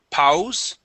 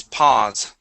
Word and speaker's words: pause: to the word pause instead of PA it is pause uh pause okay nice